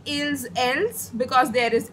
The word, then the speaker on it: ils: In plural, we add s to it, okay? But the pronunciation remains same. I will not say ills, ls. I will say ill, l only.